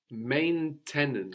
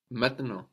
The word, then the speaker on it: maintenant: Then we have the A-N-T at the end, no, all becoming A. So we get maintenant.